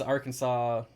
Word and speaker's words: Arkansas: flies no maybe it's Arkansas the final s is silent Arkansas's Arkin sass Arkansas